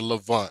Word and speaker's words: Levant: We pronounce it the Levant.